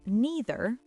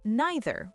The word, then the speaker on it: neither: Some people say neither like C. Some people say neither like I.